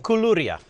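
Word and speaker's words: koulouria: one we haven't talked about how do you pronounce this one in the middle kuluria and kuluria is like uh this goes yeah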